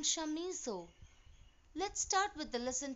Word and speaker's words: Chamisso: It is Adalbert von Chamisso. The V should be pronounced like F, and it is not Camiso, it's Chamisso.